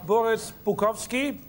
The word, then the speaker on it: Boris Bukowski: Wir verabschieden uns hier aus dem Hotel Intercontinental und freuen uns jetzt auf Boris Bukowski, richtig ausgesprochen, mit dem Vergleich einer schönen Frau und Kokain.